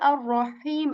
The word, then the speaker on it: الرحيم: And that is how you say ha, ha. Bismillahir okay, Rah, okay. Bismillahir Okay, again, the same ha comes in ar-Rahim as well.